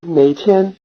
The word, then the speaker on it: 哪天: 哪天哪天哪天 You'll recognize the syllable "něi" of "něitiān" as the same syllable "něi" from "něiguo" ("which country").